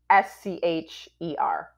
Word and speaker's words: Buescher: It's Buescher.